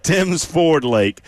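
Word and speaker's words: Tims Ford Lake: been saying it wrong allow me to correct you it's Tim's Ford Lake at Twin p uh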